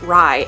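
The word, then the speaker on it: Rhy: The Prince Rye, I think that's how you pronounce it. It's like R-H-Y. The Prince Rye and him seem to be like pretty close friends.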